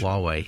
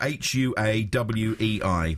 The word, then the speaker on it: Huawei: Huawei a Huawei watch Huawei it's spelled h UA Wei but it's Huawei a Huawei watch yeah